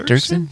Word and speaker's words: Dirksen: Dirksen?